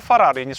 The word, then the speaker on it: Ferrari: - Enzo Farari doesn't ring a bell? That's how you say it.